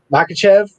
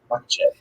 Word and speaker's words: Makhachev: Versus Islam Makhachev versus Thiago Makhachev. See, the way I'm reading it, I'm not. I gotta take out the H. Makhachev.